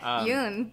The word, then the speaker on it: Jung: Oh yeah, isn't that Carl Jung? That is Carl Jung. Whatever. Yes. Jung.